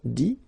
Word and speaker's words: dit: IRE here, IT, but then phonetically it's I as well because you don't pronounce the final T, okay. Écrire, écrit. IRE-IT, same group. Dire, dit, okay.